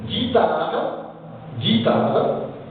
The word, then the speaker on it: guitare: Par exemple, guitare, lorsque U est suivi d'un I, on dit guitare.